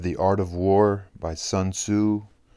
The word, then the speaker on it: Sun Tzu: chapter 2 of The Art of War by Sun Tzu it's actually pronounced Sun C aging of War Master son said in war